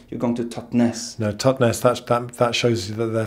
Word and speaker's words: Totnes: Some people say so Totnes, or but people who are properly from this place call it Totnes.